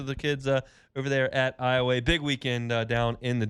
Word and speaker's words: Iowa: It's Iowa. It's spelled I-O-W-A, which most people would say Iowa.